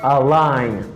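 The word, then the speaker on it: align: after the coming word is a line a line a line i have a line because the letter g in this word is not pronouncing legend a like button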